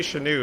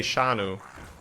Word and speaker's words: Shanu: I call you then so it's not a it's not an American pronunciation Chanute see if you say SH anew it's more American again right I would say sha no shadow Shanu okay yes that's much more European ish just to lump all